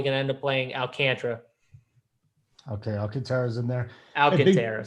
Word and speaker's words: Alcantara: You're supposed to say JSU, so it's not Alcantara, it's Alcantara, or whatever you say his name.